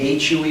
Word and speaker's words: Hue: We have Hue City, H-U-E is pronounced Hue, Hue City in 1968 during the Tet Offensive.